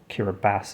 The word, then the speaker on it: Kiribati: I had no idea that Kiribati, or Kiribati as I believe it's meant to be pronounced, used to be called the Gilbert Islands.